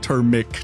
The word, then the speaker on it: Termic: No, Termic, not turmeric.